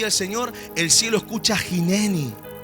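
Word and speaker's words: הנני: La palabra y la expresión que utiliza el hebreo original es la expresión jineni.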